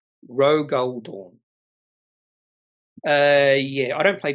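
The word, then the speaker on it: Rogal Dorn: Lele by the way it's pronounced R Rog goldor it's a character from Warhammer 40K Rog goldor uh yeah I don't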